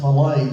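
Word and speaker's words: Mallet: ready to buy 25 it's pronounced Malay steam engines. He's Swiss.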